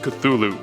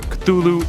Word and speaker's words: Cthulhu: It should be noted that Lovecraft originally intended the name to be pronounced closer to Cthulhu, because it originates in an alien language that can't be properly spoken by humans. However, the easier form, Cthulhu, is more prevalent, so that's what I'll